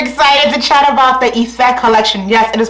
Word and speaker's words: Ife: I'm super duper excited to chat about the Ife collection. Yes, it is pronounced Ife. Super simple, 3 letters. It's Yoruba for love. Yes! Let's do a little rundown about each piece from the Ife collection.